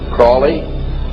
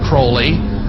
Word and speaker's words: Crowley: learned about was Aleister Crowley. He likes to have his name pronounced Crowley to rhyme with holy.